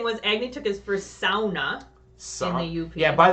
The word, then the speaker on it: sauna: All right, so you pronounced it sauna with the correct pronunciation.